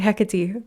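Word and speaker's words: Hecate: you're protected and goddess heate is coming in right now heate heck heck she said okay sorry I mispronounced her name and she corrected me sorry hecky thank you um that's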